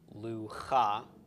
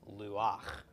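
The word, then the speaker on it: לוח: We've got a chet with a patach, and it's the last letter in the word.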